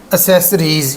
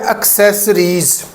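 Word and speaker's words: accessories: बड़े एजुकेटेड पढ़े लिखे, वो भी इसको एसेसरीज़ कहते हैं। तो ये जो इसकी करेक्ट प्रोनाउंसिएशन है वो है एक्सेसरीज़। पहला सी जो है, पहले वाला सी, वो काफ की साउंड देगा, और दूसरा जो सी है वो सी की साउंड देगा, यानी एस की।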